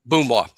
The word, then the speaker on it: Mboumoua: Because an an M well, an M is there, but it's not pronounced. It is silent.